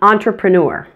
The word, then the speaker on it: entrepreneur: let's keep going on entrepreneur on Tripura the e in the press syllable is also pronounced with the schwa sound it's a pro smoothly